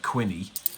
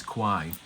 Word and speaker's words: Quine: also because Rob Quine, whose name rhymes with swine, even though it looks like Quinny, but it is Quine.